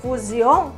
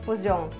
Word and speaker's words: Fusion: sabe o carro Ford Fusion que o povo fala? Não é Ford Fusion, é Ford Fusion. Então guarde bem, palavrinhas terminadas em S-I-O-N, a pronúncia é da honorável chinesinha Jean, ok?